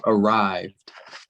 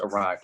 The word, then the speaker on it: arrived: no it'd be just arrived so the e is silent yeah so any time